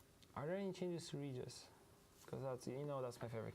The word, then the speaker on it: Regis: you know, I say Regis, Regis. I like the hard G.